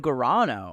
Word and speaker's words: Gurano: the past 10 years yes 10 years Gano I love thank you for pronouncing my last name correctly I you know